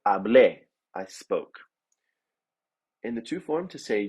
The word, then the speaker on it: hablé: So to say I spoke, we had an E with an accent, pronounced as E. So hablé, I spoke.